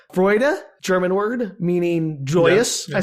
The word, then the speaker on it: Freude: It's Freude. Go figure. Freude, yes. Like Schadenfreude? Yeah, that's exactly the same word, yes.